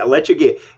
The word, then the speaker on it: Lechuguilla: Pardon me if I'm pronouncing this wrong. Lechuguilla. You're correct. Yep. Yeah, Lechuguilla in Carlsbad Caverns National Park, which is a national treasure, well known.